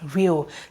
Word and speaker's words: real: It is pronounced E, E, E, E. It is long in pronunciation. Now, with the addition of R, you have re, re, re, re, and the L, it is real, real, real. Now, tell me, where is the A? Like, where is the sound of the A in the pronunciation?